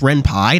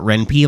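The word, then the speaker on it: Ren'Py: built into reny did you know it's actually pronounced Ren Pai not reny like I like to say which means I'm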